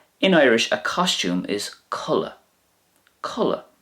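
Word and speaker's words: culaith: In Irish, a costume is culla. Culla. Now that could also be pronounced cli as well. Cli, but culla is probably more widely used.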